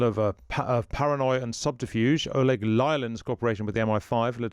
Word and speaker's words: Lyalin: Oleg Lyalin, am I saying that right? Lialin. Lialin. Yeah, I'm never saying it right, a variation.